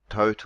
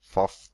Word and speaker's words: Thoth: moment so we have fo for tote or some other Foss sometimes pronounced as well but I'll be calling him fo and to begin with